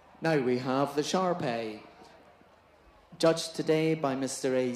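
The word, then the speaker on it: Shar-Pei: the dog number 6913 controversy Reigns over the pronunciation of this breed some devotees insist on sarpei along the lines of I say tomato you say tomato originally renowned as a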